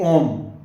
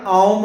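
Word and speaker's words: ॐ: हम कहते हैं आम इसका सही उच्चारण आम होता है आम नॉर्मल ही हम भाषा में सभी अलग-अलग राज्यों में ओम को जरा अलग बोलते हैं बोलचाल की भाषा में ओम ही बोलते हैं ओम ये धीरे-धीरे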